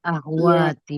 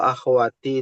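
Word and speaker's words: أخواتي: Akwati. Akwati. Oh. Akhwati. Apa? Akwatu. Akwatu. Akhwatu. Iya. Akhwathwatu. Enggak ada ya-nya ya di situ ya. Kalau akhawati itu dibacanya tulisannya akhawati. Ha. Akhawati.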